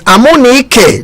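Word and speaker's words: Amunike: Yes, Amonike. That's how it's pronounced.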